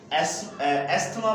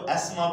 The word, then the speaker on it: asthma: अच्छा, traditional language में इसको हम जो है वो एस्थमा पढ़ा जाता था, लेकिन अब जो है इसको इस लैंग्वेज में इसको टी और एच को साइलेंट पढ़ते हैं और हम इसको एस्मा पढ़ सकते हैं। टी और एच को साइलेंट पढ़ेंगे और हम इसको पढ़ेंगे एस्मा, ASTHMA, एस्मा मतलब कि जो है